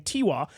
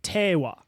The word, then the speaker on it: Tewa: me on that pronunciation I was saying tiwa and they were like tawa so I'm not a